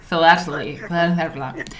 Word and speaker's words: philately: How do you pronounce philately? Philately.